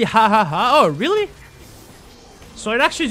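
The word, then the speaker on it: jaja: J is pronounced H in Spanish, so it's actually ha ha ha.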